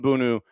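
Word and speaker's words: Bounou: And this is Yasin Bunu and Chquzi. Yusin Bunu. Uh, Bono, it's Bono technically, but it's spelled B O U N O U.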